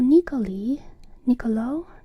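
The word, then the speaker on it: Niccoli: And Niccolò Nicoli, he also has two C's, but it feels very obvious that it's a k sound, Niccolò Nicoli.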